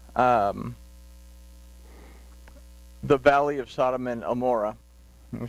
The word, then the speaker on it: Gomorrah: So he settles into the valley of Sodom and Amorah. When we say Amorah, there was a confusion about the ayin. Some say it was once pronounced with a G sound, so we come up with Gomorrah.